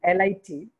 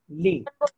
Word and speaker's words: lit: Bed is L-I-T. It is pronounced as lit. This word is pronounced as lit. T is silent.